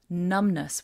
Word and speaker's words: numbness: opposite of that is numbness numbness with a silent B when you don't feel